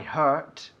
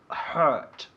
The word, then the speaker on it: hurt: But the pronunciation is a bit more difficult because it's with you. Hurt. Hurt. Not hurt. No.